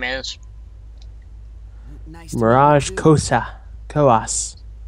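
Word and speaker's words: Koas: Kos. She pronounces it Kos.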